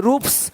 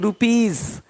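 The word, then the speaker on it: rupees: यदि किसी शब्द के अंत में एफ पी पी टी आदि वर्ण हो तो एस का उच्चारण स होता है। जैसे कि यहाँ पे रूप्स, यहाँ जा साउंड नहीं आएगा, लेकिन यहाँ पे एक्स नहीं एग्स। हीरोज, हीरोस नहीं, देख रहे हो, रुपीस नहीं रुपीज, ज का साउंड आ रहा है हल्का सा।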